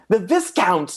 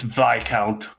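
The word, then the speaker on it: viscount: i hear the count the discount not the count this counts with his count i believe really not proper to pronounce the s it's not this count it's vi count seriously i've been saying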